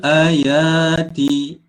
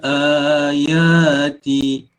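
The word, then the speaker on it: الآيات: Nusarriful ayati. Itu bacaan yang salah. A di sini kena panjangkan 2 harakat. Nusarriful ayati.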